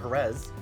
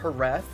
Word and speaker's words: Jerez: a lot of people like to call it Jerez, but it's pronounced Jerez, and we are actually on...